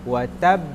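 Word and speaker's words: وَتَبَّ: Jangan watab tapi watab. Wa tab. Huruf ba ini ada 2 tasydid, 1 dan 1 enggak bertasydid.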